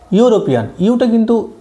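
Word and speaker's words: European: ইউরোপিয়ান, ইটা কিন্তু ইয়ের মতো উচ্চারণ হচ্ছে না, ইউর মতো উচ্চারণ হচ্ছে, সেই জন্য আমরা এখানে কিন্তু এন না লিখে এখানে এ লিখবো।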